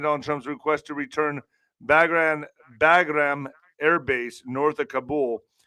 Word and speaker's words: Bagram: Bagram.